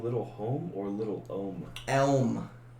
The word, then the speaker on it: Elm: Elm. Like elm tree.